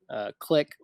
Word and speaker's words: Cliq: Zoho has their own version called Click, which is spelled CLIQ for some reason.